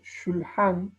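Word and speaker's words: שולחן: Fíjense, cuando pronunciamos la palabra shulhan, la U es sumamente leve, levísima. Shulhan.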